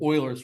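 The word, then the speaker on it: Euler: I used to pronounce it incorrectly for a long time and then someone's like it's Oiler I'm like really like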